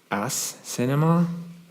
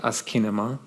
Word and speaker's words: asciinema: out and um there all variations of of pronunciation of of this um as Cinema no not really um ASA yeah um well someone said I've always pronounced it asema not really so yeah um I pronounce it